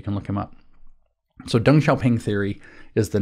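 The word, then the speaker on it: Deng Xiaoping: by the way is how you kind of pronounce it it's D N if you want to look him up dung sha ping d n g x i a o p i NG dung shaing okay so I've spelled it for you you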